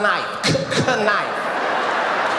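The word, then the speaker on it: knight: really is uh yes that would be kight night this is what she told me in front of the whole class she said the K is silent I said then take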